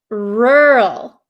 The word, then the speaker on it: rural: for you okay so this word is pronounced rural rural do you see how my mouth doesn't really open or it doesn't really move around that much okay rural rural rural